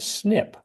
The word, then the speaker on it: SNP: that Mark the branches are abbreviated SNP and pronounced snip we call those branches